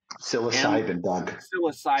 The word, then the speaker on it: psilocybin: about Silo Sylvan that's the right way to pronounce it psilocybin what I say Silo silden I I don't